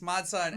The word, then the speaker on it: Mod Sun: Mod Sun. Am I saying it right? Yes, Mod Sun.